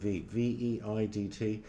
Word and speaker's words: Veidt: with Conrad, I think you say his name Veidt.